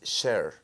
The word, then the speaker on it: Cher: Que, por cierto, el otro día dijo, lo acabo de pronunciar mal, no es Cher, dijo, es Cher.